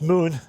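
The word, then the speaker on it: Mun: Now, it's spelled M U N, still pronounced moon.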